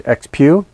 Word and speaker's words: XPEOO: The name of the company is XPEOO. I'd asked them about that to make sure I was pronouncing it correctly.